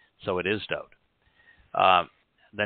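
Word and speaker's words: דוד: There is no I in his name, and there is no V in the Hebrew alphabet, nor the sound of the V. So it is Dowd.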